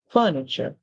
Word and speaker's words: furniture: you can simply say the t r e makes the CH sound like in the word picture capture and those words you can see it makes the CH song the chu s the